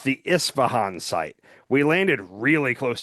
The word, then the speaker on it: Isfahan: It's the I think I think it's pronounced Isfahan. It's the Isfahan site.